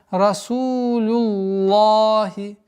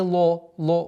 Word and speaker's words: رسول الله: Правило гласит, если перед словом лафзуль джаляля Аллах стоит огласовка дамма или фатха, лям произносится твердо, а если касра, то мягче. В данный момент у нас огласовка дамма, и поэтому лафзуль джаляля произносим слово лям в этом слове произносим твердо, и поэтому получается расулюллахи, лахи, а не ло, звука о нет.